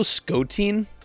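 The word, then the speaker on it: Skotein: very good there's also scottin I think that's how you pronounce it it's s k o t e i n rhymes with protein they do Pokemon covers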